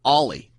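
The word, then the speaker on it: Oly: I called him Ole Thompson because that's how his name is spelled, O-L-Y, Thompson, all night on the mic, and Fish jumped in my ear, in my IFB, and said, it's pronounced Ollie.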